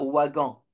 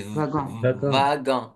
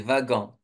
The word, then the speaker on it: wagon: c'est on prononce pas Wagan à votre avis comment on prononce ce motl là le W ça se prononce V donc c'est vagan oui c'est vagan très bien alors bravo